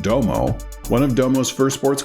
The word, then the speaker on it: Dome: In 1975, Minoru Hayashi began Domo Company as a bespoke sports car manufacturer to help fund Hayashi's racing programs. Spelled like dome, but pronounced like Domo, one of Domo's first